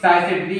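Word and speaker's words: Sycettidae: जो फैमिली होगी साइसेटेरी है, साइसेटेरी, ठीक है, इसका प्रोनाउंसिएशन थोड़ी डिफिकल्ट है तो जो मैं बोल रहा हूँ उसे ढंग से सुनिएगा। साइसेटेरी है, इसका जो फैमिली है साइसेटेरी, साइसेटेरी, ठीक है।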